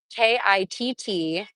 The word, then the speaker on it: KITT: Pontiac Trans Am KITT from the movie Knight Rider, 1986. Oh my gosh. 305 horsepower. Oh, is it pronounced kit? Thank you.